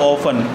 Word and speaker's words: often: में क्या होगा, हाउ ऑफन, ऑफ्टन में टी साइलेंट होता है, ओ एफ टी ई